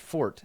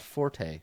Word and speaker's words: forte: maker yeah yeah or why you pronounce it fort and not Forte because they're different words thanks Luke for using